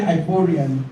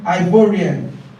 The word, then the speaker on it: Ivorian: the English version but the pronunciation of that would be ivorian okay okay now let's